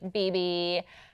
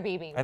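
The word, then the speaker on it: bebe: pretty dresses from like BB and like all those stores and I had to borrow b e be it's either Bay or BB whatever okay BB I pronounced it right I had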